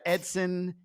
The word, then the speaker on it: Eidson: sort of we talk about your name right Edson even though it's pronounced it's spelled e-i-d like eidson I think